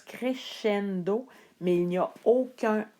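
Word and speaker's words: crescendo: a le son s ça se prononce comme nous on prononce le ch doncendo crendo ce que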